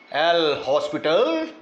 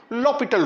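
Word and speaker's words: L'Hôpital: apply लॉ पिटल rule spelling इसके हॉस्पिटल के हैं एल हॉस्पिटल रूल पढ़ते कैसे हैं लॉ पिटल रूल राइट लपट रूल क्या कहता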